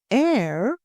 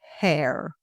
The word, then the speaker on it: heir: And the word air is pronounced like the air we breathe, not hair.